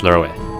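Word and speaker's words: Loewe: Real name is Loey, or if I go by the German pronunciation, Lurwe. No, it's Lurwe.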